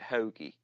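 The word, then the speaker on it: Hogue: you pronounce that one hogi you actually pronounce it hogi hogi yeah and this gentleman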